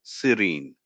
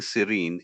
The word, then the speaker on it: serene: Think of seen or green for the E-N-E sound at the end, or serene like the calm sea.